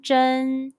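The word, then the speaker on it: 针: Zh, en, zhen. Repeat after me. Zh, en, zhen.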